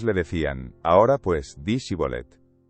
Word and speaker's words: Shibolet: Entonces le decían, "Ahora pues, di Shibolet." Y él decía Sibolet porque no podía pronunciarlo correctamente. Entonces le echaban mano y le degollaban junto a los vados del Jordán.